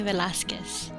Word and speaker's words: Velasquez: i can hear you say it yes velazquez lovely lovely name so i was introduced to